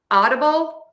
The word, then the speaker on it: audible: which sounds like a super fast D. And then be sure to end with that bull. And to do that again, you know, move the tongue from that U to the L so the sound at the end sounds long enough.